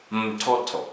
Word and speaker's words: mtoto: It's also important for you to note that sometimes letter M, when it appears in the beginning of a word, it's pronounced as a separate syllable. For example, the word mtoto, child, mtoto. Notice how I pronounce mtoto.